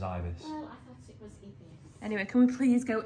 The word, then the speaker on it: Ibis: Hotel the adverts the marketing it all says Ibis anyway can we please go eat yes and